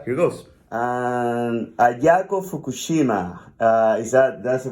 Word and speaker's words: Ayako Fukushima: And Ayako Fukushima, that's the right way to pronounce it?